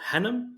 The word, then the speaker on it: Hannam: today we're joined by Dr Rachel is it Hanam is that the right pronunciation that's the right pronunciation lovely how you